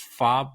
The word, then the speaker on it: Fabre: vowel uh and then my last name the French name that I don't even know how they even pronounced it this way uh is FOB but it is f-a-b-r-e so follow me at